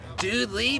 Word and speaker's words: Dudley: the Facebook TD Dudley it's pronounced dude Lee but it's spelled Dudley yeah well dude thanks